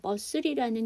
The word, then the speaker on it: muscle: 근데 여러분 여기서 muscle이라는 근육이라는 명사가 되면은요. 여기서 묵음이 하나 있어요. 뭐가 묵음이에요? 저 C가 묵음이에요.